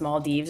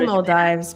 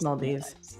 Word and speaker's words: Maldives: I want to do like I don't know if it's pronounced Maldes or Mald Dives, but I want to do that. But I also I say Mald Dives, but I've been told that's wrong. I think it's Maldives.